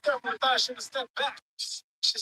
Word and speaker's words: Muratalla: That they're gonna get that to Multaleave. Motala. What his name? How you say his name? Raymond. His name Muratalla.